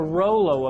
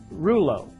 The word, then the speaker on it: rouleau: That's the Rollo effect, or rouleau, depending on what part of the world you're from. The pronunciation varies.